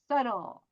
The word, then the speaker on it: subtle: It was beautiful, historical, artistically, oh, Subtle. B 발음 안 해.